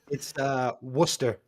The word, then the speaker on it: Worcester: So, but it's like No, actually, not Worcester Worcestershire. or Worcester, It's Worcester. Worcester.